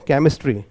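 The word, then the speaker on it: chemistry: केमिस्ट्री ठीक है केमिस्ट्री तो सी एच क का साउंड दे रहा है फिर ए फिर म मैं के साथ छोटे ई की ध्वनि आ रही है फिर स फिर ट फिर र और फिर वाई जो है छोटे ई का साउंड प्रोड्यूस कर रहा है हम इसको पढ़ेंगे केमिस्ट्री क्लियर क्या पढ़ रहे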